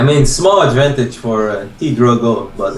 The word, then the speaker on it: PtitDrogo: small Advantage for or t Dro but it's not 100% over I think wait his name is p Dro or t dro the p is silent yeah just T Dro